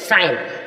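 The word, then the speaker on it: sign: जी साइलेंट हो जाएगी साइन साइन means हस्ताक्षर एस आई जी N strength strength means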